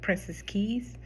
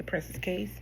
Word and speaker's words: Princess Cays: I'm pretty sure it's pronounced Princess Cays, um but a lot of people say Princess Cays.